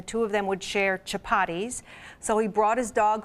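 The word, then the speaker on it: Chapatti: And pronounce the name of it again. It's Chapati.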